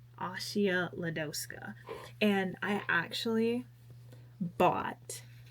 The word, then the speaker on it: Asia: you pronounce her name, even though it looks like it's spelled like Asia, but it's pronounced Ashia. Ashia Ledoska.